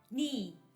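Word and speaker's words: 네: e como queda y se pronuncia igual al otro ne, que significa mi, por eso se pronuncia ni.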